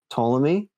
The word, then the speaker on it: Ptolemy: butcher this i have no idea how to pronounce it but it's like ptolemy ptolemy o-l-e-m-y yeah right he theorized that the